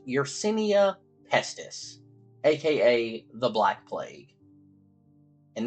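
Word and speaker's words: Yersinia pestis: scientific name of but I believe it is pronounced urenia pesus AKA The Black Plague and this bacteria was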